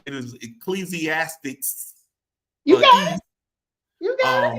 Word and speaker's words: Ecclesiastes: It is, Melissa, help me with this, and if I say it wrong, it is Ecclesiastes.